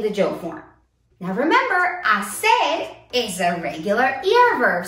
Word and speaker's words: hacer: So let's start with the verb hacer. Hacer, to do or to make. Hacer, that H is silent.